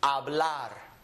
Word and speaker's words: hablar: But if they're reading a word, they would not pronounce it. They would start with an A, and it would be hablar.